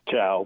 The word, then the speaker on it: Chao: Chao, am I saying it correctly? It is Chao, it's not Chao, is it? It's Chao, but that's okay.